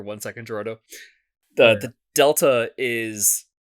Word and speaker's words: Delta: announced Metal Gear Solid Delta that's how you pronounce that I thought it was triangle wow let's use it it's Delta it's Delta oh okay cut that out